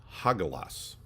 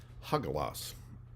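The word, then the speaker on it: Hagalaz: So today's rune, Hagalas is how it's pronounced. Hagalas.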